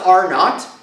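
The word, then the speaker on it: R₀: talk about this here this weird symbol is pronounced are not and the are not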